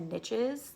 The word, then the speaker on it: niches: The phrase, the riches are in the niches. That's the phrase. And that's also the only time I pronounce that word that way.